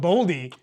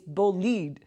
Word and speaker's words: Bolide: We have been pronouncing Bullied wrong, incorrectly for. We even call it Boldy. Because in like my the Boldy head, with the wheels. In my head, it was spelled Boldie. That's why we were pronouncing Boldy. I was like, no, it's actually Bolide. It's Bullied. It's Bullied. Bullied.